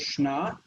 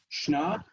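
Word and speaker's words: שְׁנָה: So the next word here is shna. Shna, the first syllable reduced, but it's the same as the Hebrew word shana, meaning year.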